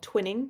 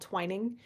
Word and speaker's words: twining: I use the twining technique, which there's lots of YouTube videos about, which looks like it's spelled twinning, but it's called twining.